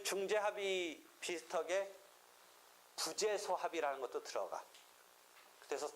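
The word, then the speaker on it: 부제소: 하여튼 그런 상황에서 부재소 합의라고 이 불로 또 발음하지 말고 이때는 부로 발음하지 부재소 합의 소재기하지 않기로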